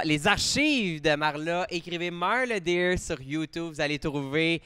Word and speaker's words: Marla Deer: Marla Deer, exactement comme ça s'écrit puis ça se prononce.